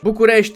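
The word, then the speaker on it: București: to Bucharest I mean if it's localized to the Romanian language bukes is the actual pronunciation they just need to add the diacritics for S sh instead of s that's it Bucharest is the English version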